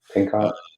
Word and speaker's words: Pinchot: I don't know how to pronounce his last name. Yeah, Pinchot.